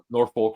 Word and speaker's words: Norfolk: Norfolk State. No. See, The L's kind of think- silent when you pronounce see, it.